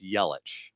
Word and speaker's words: Yelich: And You know, Tanner, the least you could do is pronounce his name right. It's Yelich. I like Yelly better.